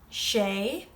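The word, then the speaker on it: sé: say you, tu, he, she, which can also be used for it. She is she, but of course it's spelled differently than English.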